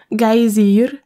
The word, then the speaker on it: Geysir: Le geyser, mot que les Islandais prononcent Geysir et qui signifie fureur, s'élève majestueusement à son extrémité.